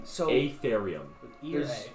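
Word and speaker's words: Afaerium: How do you guys pronounce it? So Atherium.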